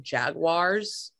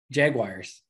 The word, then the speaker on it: Jaguars: There's a key vowel difference there. But if you look at the spelling of the word, it's a U and then an A, not an I, a U and an A. Jaguars. All right, we will move on.